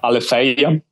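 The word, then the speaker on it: αλήθεια: Like I would pick Aletheia. Did I pronounce it correctly? Again? Yeah, Aletheia.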